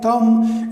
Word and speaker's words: thumb: places in two places when you know m m comes before b like in bom com thumb etc etc then b is silent when b is in the final position and m ma sound is before that then b is supposed to be silent and second it